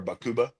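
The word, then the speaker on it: Baqubah: So that was in a place called Bakuba or Bakuba is how you say it.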